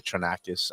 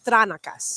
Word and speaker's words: Tranakis: I say Tranakis. I don't know. Nope, if you say it with Tranakis. Greece, it's Tranakas.